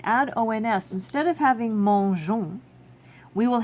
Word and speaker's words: mangeons: having mangeons, we will have mangon, which is not correct. So we need to add an E into the form. So mangeons. Just like in English, adding an E after the G keeps the soft G sound, mangeons.